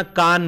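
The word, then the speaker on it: Cannes: चित्रपट महोत्सव मानला जातो कान फ्रांस मधले ठिकाण सी एन एन इ S spelling है पण उच्चार होताना कान होतो कानच्या फिल्म फेस्टिवल मध्ये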